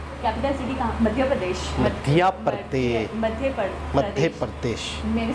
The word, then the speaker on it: मध्य प्रदेश: मध्य प्रदेश। मध्य प्रदेश। मध्य प्रदेश। मैंने सही से प्रोनाउंस सुना था, एक मिनट।